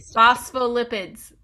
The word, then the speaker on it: phospholipids: this 10 times in the mirror and I phospholipids that's it that's what we got it's made